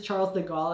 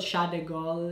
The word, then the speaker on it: Charles de Gaulle: in paris which is charles de gaulle i hope i'm pronouncing that right i think it's called shot de gaulle if you like really pronounce it like really french make sure you know